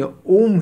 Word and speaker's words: ओम: शब्द है ये ध्वनि ओम ही इसी को ओम कहा जाने लगा वास्तव में औम है अ उ अ म तो य वही बात